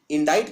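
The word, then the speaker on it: indict: हैं इंडा इट करना तो इंडा इट में ये बीच में सी आता है एक ये प्रोनाउंस नहीं होता इसका उच्चारण नहीं किया जाता लेकिन लिखने में ये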